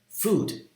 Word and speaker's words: food: this or that food food do you pronounce it as intense fall or foot like a lags follow unlike the word foot which is short and relaxed food is tense your lips are more protrude and it's a slightly